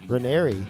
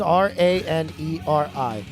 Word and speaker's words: Ranieri: Ranieri. That's how it's pronounced. Now I'm confused. Why? It's Raneri. Ra-ner-e.